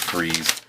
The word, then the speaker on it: Freese: I always say Freeze because that's how it's spelled, but it is Freeze.